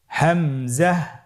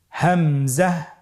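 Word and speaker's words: همزة: হামজা হরফটি উচ্চারণের ক্ষেত্রে বারিক করে উচ্চারণ করতে হবে এবং এখানে টেনে পড়া যাবে না। দ্রুত পড়তে হবে। আপনারা আমার সাথে বলুন হামজা হামজাহ হামজা হরফটি উচ্চারণের স্থান হা এর মতই।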